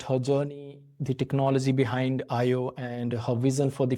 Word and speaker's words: ÄIO: Today I'm really excited to speak with Nimala Bonturi, the CEO and co-founder of IO. Am I pronouncing it right?